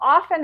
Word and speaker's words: often: So how many people say often instead of often? Well, often is the standard pronunciation now, but it's because of articulatory efficiency that T, which was there originally up till the 15th century, got deleted.